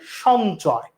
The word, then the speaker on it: সঞ্চয়: তার মধ্যে একটা আমরা উদাহরণ দেখি, আমরা দেখি যখন এই শব্দটা লেখা হয়, এই শব্দটা যখন লেখা হয় এটাকে আমরা বলি সঞ্চয়, সঞ্চয়। তাহলে এটার উচ্চারণ যদি লিখি, দন্তস্বর উচ্চারণ তালব্যস্বর মতো হয়েছে, সঞ্চয়।